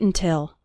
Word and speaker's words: until: When speaking fast, the first syllable of until is barely pronounced. Listen to it again. Don't wait until.